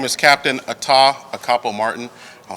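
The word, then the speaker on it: Atah Akpo-Martin: crimes good morning uh my name is Captain Atta acapo Martin I'll spell it a-t-a-h a capo Martin AK akpo hyphen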